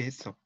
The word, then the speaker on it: HACCP: 이제 발음 우리말식으로 읽으면 해썹이 해썹.